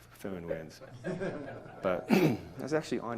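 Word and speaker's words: föhn: It might have been David Whiteman that said that you pronounce phone like Inspector Clouseau says phone, a phone, like phone winds.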